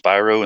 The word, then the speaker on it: Spyro: I've heard it pronounced Spyro and Spiro. I'm saying Spiro because it just sounds better.